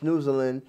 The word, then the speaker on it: Snoezelen: 1970s as dutch therapists the dutch hybrid word pronounced snoozlin directly translates as sniffing and dozing but is in practice